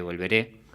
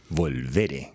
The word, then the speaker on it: Volveré: en mayo el EP Volveré. Volveré, con tilde en la primera E. Volveré.